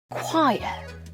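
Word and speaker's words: choir: 피자 아니에요 피자 피자입니다 quire quire 바로 성가의 합창단이라는 뜻입니다 라고요 초라고 읽지 않습니다 안아요 안아요 20번째 뭐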